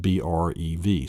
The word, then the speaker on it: breve: The next one then is the brev, and it's pronounced, the first one you'll see in a dictionary is the brev. Some have it breve, but it's a brev.